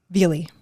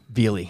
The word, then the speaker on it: Velie: How do you pronounce the road we're on? Velie. Velie.